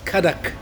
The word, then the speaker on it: Kadak: I think phonetically in the Indian language it is Kadak. Kadak, yeah. So The D. Yeah. that's the With a D, yeah.